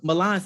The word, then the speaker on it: Mulan: because he spells it m-u-l-a-n and that's mulan right like the princess but the way he pronounces it is hey everybody it's milan from season three like the city so i'm like i'm